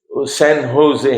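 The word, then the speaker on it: San José: شہزاد صاحب جیسے سین ہوزے ہیں نا, تو لکھتے ہیں سین جوزے, لیکن پڑھتے ہیں سین ہوزے. اسپینش میں شاید تلفظ اور ہو, سمجھے, سین ہوزے.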